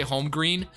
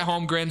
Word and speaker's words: Holmgren: I used to say Holmgren, but it's Chet Holmgren. So that is who I want, and I gotta make sure. Looking at the mock drafts, let's see. So Chet Holmgren is going number 1 to the Warriors.